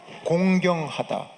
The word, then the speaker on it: 공경하다: 발음을 똑바로 해주세요. 공격이 아니에요. 내 부모를 공격하라 아니에요. 공경하다.